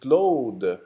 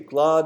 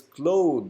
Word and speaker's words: Claude: Ellison and Claude. You say Claude in English, but it's Claude. The French way of pronouncing this French word is Claude.